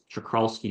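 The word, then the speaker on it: Czochralski: And the way they do that is by a process called chakralski growth. That's chakralski in case you're wondering. This is how it's spelled. Starts with a cz.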